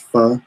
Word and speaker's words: pho: I hate saying pho. It's pronounced pho, but I like saying pho.